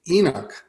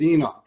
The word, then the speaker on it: Enoch: and his wife conceive Enoch. Am I pronouncing it right? Yeah. Enoch? Right, yes. Okay.